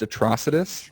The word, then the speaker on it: Atrocitus: that they've done it's just it's pronounced it's pronounced atrocitus get it right go yourself